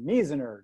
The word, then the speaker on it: Measner: john and the last name i believe is pronounced miziner did i get that right john you got